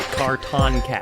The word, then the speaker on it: Cartoncast: I'm not going to attempt your last names of the Cartoncast. You got the important thing to pronounce right. Cartoncast. Cartoncast, yes. Like a carton of eggs, people.